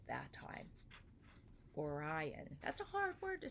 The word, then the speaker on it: Orion: Orion.